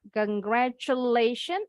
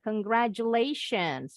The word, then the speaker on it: congratulations: Nah, yang ini T-nya bunyinya bukan T, jadi bacanya bukan congratulation. Bacanya boleh pakai CH, congratulations atau bunyi J, congratulations. Dua-duanya betul.